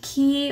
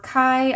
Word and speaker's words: Kei: vellum taped in that says key or kai i probably am not pronouncing that right i think it's kai kai granton created the